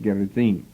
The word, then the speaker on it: Gerizim: A temple was built by the Samaritans on Mount Gerizim, sometimes pronounced Gerizim.